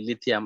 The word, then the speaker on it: লিথিয়াম: দেখো, একটা লিথিয়ামের কথা যদি বলি, লিথিয়াম আর একটা সহজভাবে বোঝার বই হয়েছে সবার শেষে কিন্তু একটা আমের মতো উচ্চারণ হবে, লিথিয়াম, ম্যাগনেশিয়াম, অ্যালুমিনিয়াম।